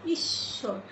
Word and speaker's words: ঈশ্বর: আবার ঈশ্বর, ঈশ্বর এটাকেও আমরা দুইবার উচ্চারণ করছি।